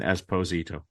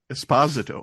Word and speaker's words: Esposito: Esposito. That's how the Italians pronounce it.